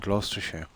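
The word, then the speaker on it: Gloucester: name wasn't it yeah I've always called it gluster and gler yeah the spelling of it is GL u c Lous yeah yeah yeah yeah I was checked a few times actually by people that live there but I think either one is okay yeah I've never been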